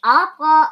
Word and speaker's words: Abra: ja dann, dass tatsächlich Abra auch ein bisschen, wie wird der Name eigentlich ausgesprochen? Abra, wie Abra Kadabra. Okay. Also Abra.